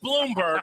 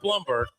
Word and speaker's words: Bloomberg: It is Bloomberg, not Blumbberg.